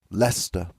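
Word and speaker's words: Leicester: of pronounce this one it's got some weird pronunciation weird pronunciation that US Canadian folk don't know how to say properly Lester Lester that's what it was yeah and Lester in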